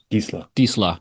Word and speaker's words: Disla: I always need help with pronunciation. Arturo Disla. Disla, yeah.